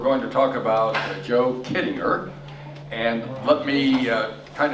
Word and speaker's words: Kittinger: ways what's correct and he said kidding her everybody pronounces it wrong but it's kidding so that's what we'll